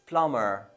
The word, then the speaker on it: plumber: be a silent bomb or we say plumber plumber it's not plumber it's plumber plumber the B is silent because it's after M so well that was uh